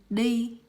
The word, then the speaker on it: đi: And this letter is actually pronounced the. It's like the in English. Yes, the. And the example I have here is đi, which means go in English.